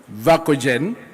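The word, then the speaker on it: Verkooijen: The Chancellor of the University of Nairobi, Professor Patrick Vakojen, that is the Kenyan way of pronouncing it.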